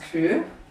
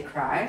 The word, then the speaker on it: Kry: means proud and conceited it's pronounced crew but you say cry so basically what is